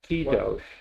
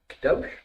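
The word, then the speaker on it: קדוש: Kadosh. Kadosh?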